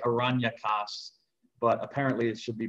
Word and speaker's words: Aranyakas: You could pronounce it I would say Aranyakas, but apparently it should be pronounced Aranyaks, some the A is silent at the end, the Aranyaks.